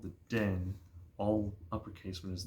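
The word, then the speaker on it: Dynne: a character called The Den all uppercase when his name shows up d y n NE e is his name and in my head I kept pronouncing as dinner um but it's den and they point out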